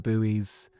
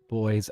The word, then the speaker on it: buoy: have to cross around the buoys boys. I'm saying in both the English and the the British and American pronunciations.